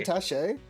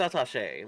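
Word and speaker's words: attaché: got got got got to pronounce the actually atach I believe it's atach that's why it has the uh accent yeah the accent yeah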